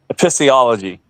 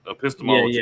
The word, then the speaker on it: epistemology: Epistiology. Episcop. Episcology. Well, pronunciation was bad, but epistemology.